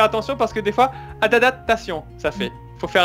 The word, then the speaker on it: adaptation: pause sur le mot adaptation. Il a connu beaucoup d'adaptations. Il a connu beaucoup d'adaptations. Alors, c'est difficile. On va prononcer plus doucement. Adaptation. Adaptation. Alors là, vous mettez adapou, pas de pou, d'accord ?